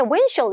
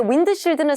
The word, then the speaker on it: windshield: windshield 이렇게 발음하면은 안 돼요. 왜냐면 자꾸 그렇게 발음하시면은 나중에 원어민에 windshield 이렇게 들어가면 windshield은 우리 귀로 들었을 때 이음절이죠. 근데 windshield는 사음절이죠.